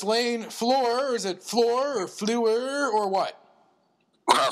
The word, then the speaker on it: Fluhrer: Is it Fluhrer or Fluhrer or what? Well, Fluhrer is good. Fluhrer, okay. The Mel Erickson pronunciation, not the Dana Carvey pronunciation, or what?